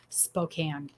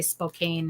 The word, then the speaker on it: Spokane: So that's why ours is pronounced Spokane. So I'll have salespeople, or I'll call into whatever and be talking to someone, and they'll say Spokane, and I always correct them.